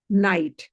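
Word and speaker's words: knight: एक है नाइट एक है पेज। नाइट की स्पेलिंग क्या है? ए के एन आई जी एच टी। प्रोनंसिएशन क्या है? नाइट।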